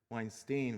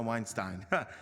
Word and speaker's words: Weinstein: It seems like everybody says Weinstein, but now it's good to know Weinstein.